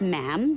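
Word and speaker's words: ma'am: um and after that it's just mam rhymes with jam and it's always a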